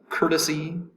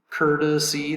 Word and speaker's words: courtesy: the first syllable cur the t is pronounced like a d cur dis c courtesy